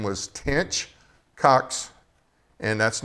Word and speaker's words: Tench Coxe: Tench Coxe is his name. It's Tench and then Coxe.